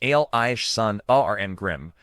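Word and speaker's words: Alison Arngrim: Allison Argrim, pronounced Alish son, A R Grim, was born on January 18th, 1962 in New York City.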